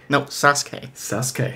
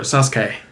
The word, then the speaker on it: Sasuke: Sasuke. Yeah. Is that actually what it is? Oh, Styles pronounces it wrong.